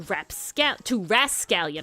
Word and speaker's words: rascallion: By the 16th century, English speakers had expanded rascal to rascallion. I'm sorry, no P there.